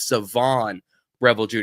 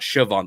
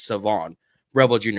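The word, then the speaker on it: Shavon Revel Jr.: It's Savon Revel Jr., not Siobhan. The H is silent. It's Savon Revel Jr., although I think he'll make it a little farther because of his injury.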